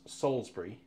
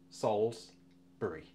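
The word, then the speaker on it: Salisbury: to Salsbury and and you Americans it is pronounced Salsbury SS Salsbury Salsbury doesn't look like it does it but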